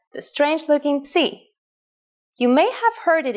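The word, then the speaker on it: ψ: If you ever forget how to pronounce this letter, just remember, psi is for Poseidon and his trident.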